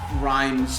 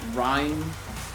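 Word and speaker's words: Ryme: Yeah, it's like time the herb, but with a yeah.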